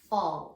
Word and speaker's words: fall: Fall. And fall is tricky because it has an A in the middle, not an O. Sounds like an O.